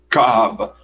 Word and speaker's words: Kaaba: Quando você vai dizer, segundo a pronúncia que eles esperam que seja feita, Kaaba, o som no C começa, vamos dizer, nessa região, enquanto no Kaaba começa aqui.